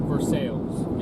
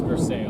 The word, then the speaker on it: Versailles: So, in Kentucky, that town name, they pronounce it Versailles in Kentucky. Okay. It's Versailles.